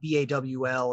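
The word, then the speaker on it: Baal: see perfect fantastic um ball by the way is bawl is how it's pronounced or the hall i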